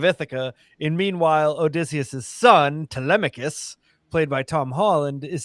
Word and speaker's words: Telemachus: In meanwhile, Odysseus' son, Telemachus, played by Tom Holland, is sitting there just being like stewing, saying, "I'm old enough.